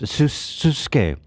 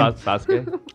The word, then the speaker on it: Sasuke: Like a what's his Susuke? What's that name? Sasuke. Sasuke. And they spell it like.